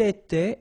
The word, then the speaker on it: était: Il était, elle était, final T not pronounced.